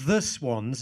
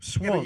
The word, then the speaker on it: Swans: Young Todd Todd rren swans not the swans as you keep incorrectly pronouncing it on the podcast there's no definite article swans you actually said Cupid